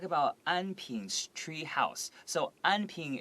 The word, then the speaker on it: Anping: So Anping is like a very Taiwanese way to pronounce this word. If I was reading it as an American, I would probably say Anping.